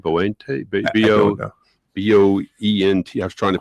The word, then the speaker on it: Boente: Boente. B-O-E-N-T. I was trying to pronounce it with my southern accent.